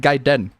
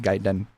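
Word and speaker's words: Gaiden: Ryu and gayen gayen I'd say it gaen cuz that's that's how a Japanese would pronounce it gaen cuz I'm pretty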